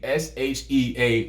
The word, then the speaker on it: Shea: Why would you name yourself Shea, S-H-E-A, and say it's pronounced Shea?